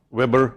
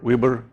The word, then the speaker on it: weber: special name special symbol unfortunately it has many different pronunciations Weber Weber Weber choose yours as long as you know it's WB yeah that's flux in International